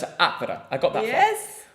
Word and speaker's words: Atvara: So the thing is, I've mastered the stress the first syllable in Latvian. Yes. So I know it's Atvara.